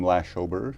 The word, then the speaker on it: Lashober: So the first is lash. And that's really what my friends called me growing up. I don't think they ever got to the second or third syllable. They were maybe just lazy. Sometimes I tell people, if it helps, remember it rhymes with slash, like in slash the deficit. Second syllable is O, okay? Very simple, as in, oh my